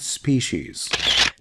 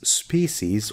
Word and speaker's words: species: Extinction of animal and plant species. Now this can be pronounced as species or species.